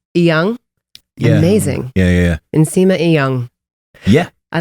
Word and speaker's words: Inyang: Did I pronounce that correctly? Well, you said my first name right. My last name is Inyang, but I just say Inyang because it's easier